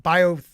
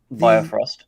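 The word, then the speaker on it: Bifrost: I mean, I know he's gonna have to use it to like Biothrost. Oh, I always say it wrong. Biofrost. Yes. Actually, I didn't say it too bad right there.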